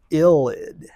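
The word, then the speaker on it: ylide: This is something called a phosphorus illid spelled y l i d e pronounced illid.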